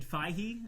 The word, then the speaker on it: Feige: Yes, it is pronounced Richard Feige. I don't know why I always say Feige.